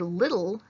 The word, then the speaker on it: little: You don't hear an E sound in the word little at all. Why isn't it just like that? Why isn't it little? And leave it at that. Here's a hint. Syllables. Every syllable needs at least one vowel. So even though you can't hear that E in the second syllable of little, you still need it,